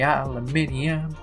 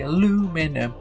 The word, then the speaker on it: aluminium: We say aluminium, you say aluminum, we say it properly, you say no.